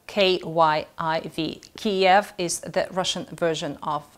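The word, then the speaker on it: Kyiv: so well let's put it to rest it's kiev and it's spelled k-y-i-v kiev is the russian version of um of cave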